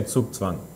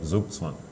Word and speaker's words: Zugzwang: 'Cause that's How should we say it? Zugzwang. And how do you say it? We say Zugzwang. English say Zugzwang. It's not that much different.